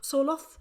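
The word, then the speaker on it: Sørloth: Norwegian teammate Alexander Sorloth, I think that's how Sorloth, is that how you pronounce Yeah, it?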